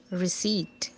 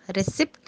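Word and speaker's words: receipt: रिसीट। जी हाँ, रिसिप्ट नहीं, रसीद नहीं, रिसीट। हम कहेंगे please give me द रिसीट, हमें इसका बिल चाहिए।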